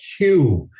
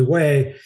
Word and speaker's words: Hue: Of course, we didn't know how to pronounce it because we're calling it Hugh. Hey, we're going to Hugh. Where the hell's Hugh? I never heard of Hugh. So heading up to Hugh, actually Way, and we get bombarded